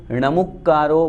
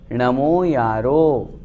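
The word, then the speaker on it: णमोयारो: कितनी कैसेट्स सुनी है, उनमें णमुक्कारो बोलते हैं, णमोकारो बोलते हैं, वो अशुद्ध है। शुद्ध क्या है? नमो यारो।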